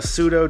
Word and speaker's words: pseudo: behind this was it was a silent P joke. It is a pseudo pterodactyl, both words that have a silent P, going silently P.